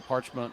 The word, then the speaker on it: Parchment: Norma says Sierra Parchment, pronounce Sierra. Okay, that's how I've been saying it. And then parchment like paper above, somebody says.